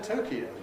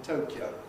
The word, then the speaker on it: Tokyo: Or for that matter, Tokyo, usually, rather than Tokyo.